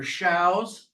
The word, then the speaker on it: Schaus: Schaus, pronounced like cows.